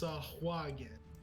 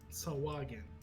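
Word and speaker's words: Sahuagin: It looks like it is pronounced Sahwagan. Sahwagan.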